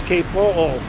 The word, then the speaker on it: Kapoo: And I'm like, it's Kapoo.